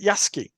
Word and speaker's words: Yasuki: and there's like well with a lot of these you know the U is usually not pronounced it's kind of you